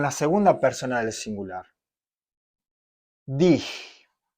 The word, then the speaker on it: dich: Dich. De la misma forma. ¿Sí? Tenemos aquí la pronunciación de esta G rasposa.